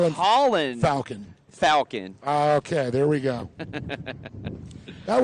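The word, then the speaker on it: Falcón: Or as I talked to his mom, because he did say there, in Spanish it's Falcon, and if you Americanize it, it's Falcon.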